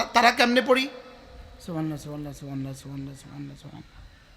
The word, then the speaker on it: সুবহানাল্লাহ: সুবহানাল্লাহ, পড়েন সুবহানাল্লাহ সুবহানাল্লাহ, আলহামদুলিল্লাহ আলহামদুলিল্লাহ আলহামদুলিল্লাহ, আল্লাহু আকবার আল্লাহু আকবার আল্লাহু আকবার।